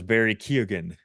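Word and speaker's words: Barry Keoghan: know guy and then the other one was Barry Ken that's how you say his name the guy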